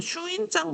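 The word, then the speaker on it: 朱印状: 그래서 어떤 무역을 했냐면 슈인장 무역을 장려하거든요 신장이라는 거는 우리나라 발음으로 얘기하면 주인장이라고 해요 주인장이라고 하는데이 주인장이라는게 뭐냐면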